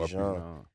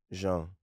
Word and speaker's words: Jean: Nah, it'd be Jean. I'm like Jean-Claude Van Damme. Jean. Jean Valjean. Jean. Right, it's simple. Very simple. Hey man, get it together, man. Let's get the pronunciation correct.